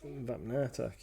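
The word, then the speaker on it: Vapnartak: You were at Vapnatak. Is it Vapnatak? Vapnatak, yeah.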